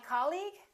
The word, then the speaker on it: colleague: words the second one did you say colleague or colleague he's my colleague that's right once again it's the first syllable repeat after me colleague